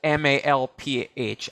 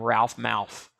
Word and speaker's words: Malph: I also Googled it and saw that his last name is spelled Malph. I never knew that. All these years, I thought it was a function of my lisp that I was calling him Ralph Mouth.